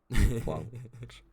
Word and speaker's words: Blanche: Sorry, I'm listening to how to pronounce Blanche. Oh, of course, it was the timer ball. The timer ball pack. This one. In French, it's pronounced blanche, meaning white.